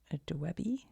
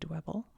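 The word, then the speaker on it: Dwebble: So it goes from dwbby no sorry dwbble dwbby dwbble to crystal crystal.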